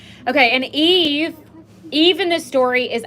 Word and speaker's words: y: like where is why why in Spanish is pronounced e which means and I'm sure that's what